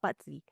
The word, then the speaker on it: Bazi: They understand what Feng Shui is, but Bazi. Am I pronouncing it right? Correct, it's Bazi.